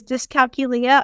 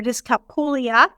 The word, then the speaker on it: dyscalculia: My learning disability is dyscalculia or dyscalculia, depending on how you pronounce it, and it's a math-based learning disability.